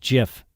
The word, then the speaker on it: GIF: Steve White, who created the graphics interchange format at CompuServe in 1987, says it's pronounced GIF. There you go. So like the peanut butter.